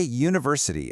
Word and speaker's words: university: Just say university out loud. The very first sound is U, which is a consonant sound.